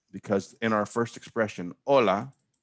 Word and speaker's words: hola: in our first expression hola h is silent never gets pronounced that double l at